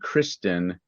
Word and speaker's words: Kristin: We Let's had one with what they called 2 happy children or humans whose names were Hakan and Kristen. That's spelled Haakon and Kristin.